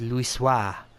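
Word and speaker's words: Louisoix: Louis wha foretold and for those wanting the reason why I know how to pronounce that particular name is because it comes up a lot and thankfully is voice voice acted at certain parts so I know it's Lewis wha he is wealth a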